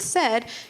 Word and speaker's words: said: When we say the word said, you kind of hear that short E sound in the middle, but that's not how it's spelled. It has the AI spelling.